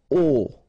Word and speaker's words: au: Okay, so a plus le will become o, like that. You write it au, you pronounce it o.